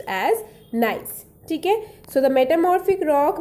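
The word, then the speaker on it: gneiss: e l i s s that is pronounced pronounced as nice tk so the metamorphic rock made from gray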